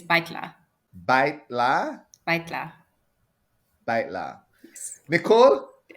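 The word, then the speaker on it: Баяртай: Well, I only know the formal way, which is baitla.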